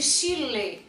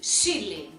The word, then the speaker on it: Chile: e e com o quando elas terminam em e nós não pronunciamos como E nós pronunciamos como I primeiro exemplo Chile Olha como eu disse o país Chile Eu não disse Chile eu disse Chile o Chile é um